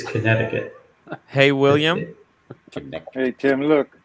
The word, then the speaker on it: Connecticut: safe trip Tim yeah the second C by the way Tim is is silent so it's Connecticut hey William hey Tim